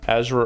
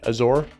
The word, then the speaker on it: Azure: moment of communication uh as or ezra uh i never pronounced that right azure yeah azure devops devops